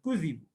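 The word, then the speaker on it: كُذِبُوا: Tapi kalau di qiraah yang biasa kita miliki, Hafs, ya, itu tanpa tasdid, qad kudzibu.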